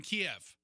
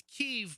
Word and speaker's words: Kyiv: So it's still chicken Kiev, but it's Kyiv because that's how the Ukrainians pronounce the name of their city.